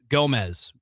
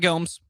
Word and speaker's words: Gomez: And they'll tag in Austin Orman and Tristan Gomez. Gomez, not Gomes. You may hear Gomes, but it's Gomez.